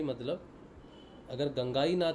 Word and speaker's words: गंगाई: गुरुदेव ने भी दादा गुरुदेव के बारे में बताया था कि उनका नाम गंगा नहीं गंगाई है।